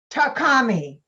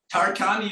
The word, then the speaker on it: Tarkhani: TARKHANI. Hi, JAMIL. Hi, Mom. How you doing? Is that the way you say the last name? TARKHANI is perfect.